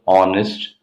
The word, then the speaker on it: honest: But whereas when we use the word with the silent letter H, for examples, an hour, an honest man, an hair, here we use an though the word starts with consonant because these words take the sound of a vowel, hour, honest, hair.